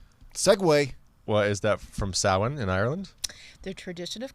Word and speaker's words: Samhain: actually pronounced Samhain. Yep. Samhain.